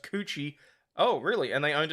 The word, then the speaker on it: Kookie: school with the chick whose last name was Kookie pronounced coochie oh really and they owned an Italian restaurant